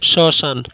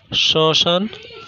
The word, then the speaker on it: শ্মশান: দুই নম্বরে, কোনো শব্দের প্রথম বর্ণে মফলা যুক্ত হলে মফলা অনুচ্চারিত থাকে এবং কিছুটা নাসিক্য রূপে উচ্চারিত হয়, যেমন শ্মশান, শ্মশান, স্মরণ, স্মরণ ইত্যাদি।